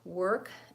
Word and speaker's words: work: a lot of similarities world and work both have vowel or so even though they're spelled with a are they're the same vowel as in person sure bird paper we really think of it as ER because we use that